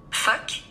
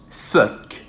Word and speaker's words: phoque: Phoque. Phoque.